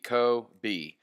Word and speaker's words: Kobe: Kobe is in Kobe Bryant or Kobe Japan. CO-B, Kobe.